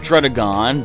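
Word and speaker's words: Druddigon: I know it's pronounced Drudagon, but if they're going to make it look so strange, I'm going to pronounce it so strange.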